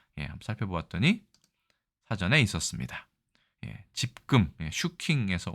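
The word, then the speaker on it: 集金: 쓰고 있는 것으로 보아서는 집금의 일본어 발음인 슈킹에서 왔을 가능성이 매우 크다. 그리고 실제로 우리나라 국어 사전에도 집금이라는 말이 들어있다. 물론 슈킹은 우리나라 사전에 없습니다.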